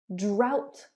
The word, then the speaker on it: drought: Number 6, O-U-G-H sounds like ow. Drought, plow.